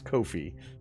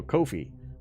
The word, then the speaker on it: Ko-fi: Kofi Kofi noi Kofi yes Kofi it rhymes with no Fe so Kofi uh both very quick